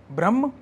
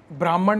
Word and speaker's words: ब्रह्म: एच एम ए एन ब्रह्म इसको ब्राह्मण मत पढ़ना इसको भ्रमण मत पढ़ना यह ब्रह्म कहना चाह रहे हैं और ब्रहम वो